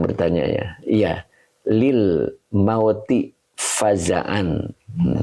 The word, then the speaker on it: فزعا: ya Iya Lil mauti fazaan ada juga mungkin yang baca fa'an ya oke mungkin itu ya Ada juga yang bacanya fazan saya baca Faza an ya gitu jadi sesungguhnya